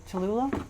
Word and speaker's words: Cholula: with tons of tons of what's it called chalula chula how do you say it cholula sauce hot sauce yeah cholula or yeah or sriracha that's the other one